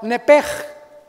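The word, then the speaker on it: נפש: La palabra vida, apúntalo en el hebreo, es la palabra nepej. Nepej se escribe nepesh con SH al final y es alma.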